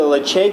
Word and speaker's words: Ledaig: Just starting off with the Ledaig here, which is an unusual pronunciation for the way it's spelled, which is spelled Ledaig.